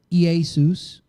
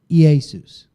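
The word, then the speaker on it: Ἰησοῦς: have Yeshua and Hebrew e Asus in Greek that's the way it's pronounced in Greek e Asus and we englishized that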